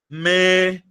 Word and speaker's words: médico: Se você pegar essa palavrinha aqui, ó, médico. Quando você olha pra primeira, meu amor, a primeira, certo? Quando você olha pra primeira, você percebe uma, duas três. Tem três sílabas.